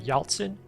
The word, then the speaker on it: Yaltsin: When you see the word Yaltsin, you have to pronounce the C as if it is the TZ sound.